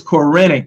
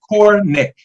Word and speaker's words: Corenic: e in there uh you know sometimes people pronounce it the wrong way so the wrong way is quranic some people do that the correct way and